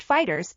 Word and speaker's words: FighterZ: Dragon Ball fighter Z 2018 Dragon Ball fighter Z pronounced Fighters is a two 5D